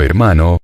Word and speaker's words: hermano: formas fratello y soreya la H de hermano es adventicia y nunca se pronunció en la Edad Media